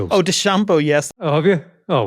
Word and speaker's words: DeChambeau: Oh, DeChambeau, yes. Oh, have you? Oh, well. Not the pitcher. I was fascinated by how DeChambeau and the president both pronounced his name. It's DeChambeau, they say, which is certainly not the way